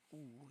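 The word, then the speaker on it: お: O is pronounced like O in hope, but the sound is more front of the mouth.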